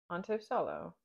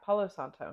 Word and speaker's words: Palo Santo: Ponto Solo. Palo Santo. Is that right? Palo Santo? Yeah, Palo Santo, not Ponto Solo.